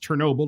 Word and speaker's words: Chernobyl: the cho renewable power plant i think that's pronounced chernobyl excuse me i actually watched did you see